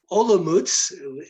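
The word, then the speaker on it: Olomouc: uh eastern wing uh the university of uh olomouz the way the czechs pronounce the town uh is occupying uh uh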